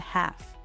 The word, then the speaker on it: half: Silent L appears in words like walk, talk, calm, and half. There is no L sound here.